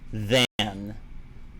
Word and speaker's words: than: What's the pronunciation difference between then and than? Then, than. Then, then, the, and, than. Like it might be hard for some people to hear, but they're two different vowel sounds.